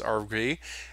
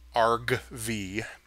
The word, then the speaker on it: argv: a list which is RV and it says okay I'm going to look in RV RV I keep saying RV because it's not a recreational vehicle I should probably pronounce it right argv right argv has three